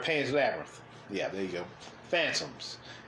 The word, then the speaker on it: Pan's Labyrinth: Pan's Labyrinth.